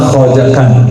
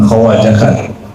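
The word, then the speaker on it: Khwajagan: Khatam k sebenarnya bacanya khajakan bukan khawakan.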